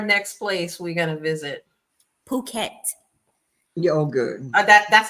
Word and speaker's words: Phuket: Yeah, and in Asia, they pronounce PH. It ain't an F sound. The P makes a P and the H makes H sound.